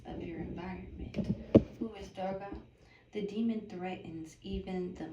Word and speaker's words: Durga: Durga, pronunciation D-U-R space G-A-H, Durga. But how you spell the goddess name is D-U-R-G-A.